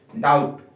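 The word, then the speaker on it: doubt: एक और स्पेलिंग है डाउट यहां पे बी आ रहा है बी के बाद में टी तो किसको साइलेंट करना पड़ेगा आपको बी को सटल है ना सटल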